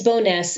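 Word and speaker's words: Bowness: a a boil water advisory I hope I pronounce that correctly it's boness and yes there is a boil water advisory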